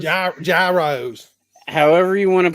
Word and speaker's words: gyros: excited for them um it's like the g is silent it's like your EUR so me and so